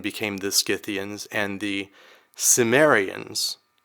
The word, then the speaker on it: Cimmerians: that should be pronounced Cimmerians. Okay, well, the C can be either hard or soft.